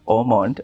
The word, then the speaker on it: Haut Monde: it's pronounced Ormond.